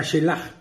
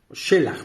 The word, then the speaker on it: Shelaj: 35 años procreó a shelaj shelach perdón porque tiene acento en la e shelach después del nacimiento